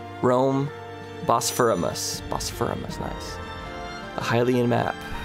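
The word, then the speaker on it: Rhoam Bosphoramus: diligent she can be distractable at times it's pronounced Rome boss for a mus Rome bosphoramus bosphoramus nice the hen map this is one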